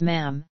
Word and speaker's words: ma'am: your majesty and thereafter as ma'am with a short a as in Jam arms from April 21